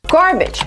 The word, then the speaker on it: garbage: this word garbage garbage the second syllable is not stressed gar garbage for this syllable we have three pronunciations you can use the a sound like cup and up garbage garbage and if you look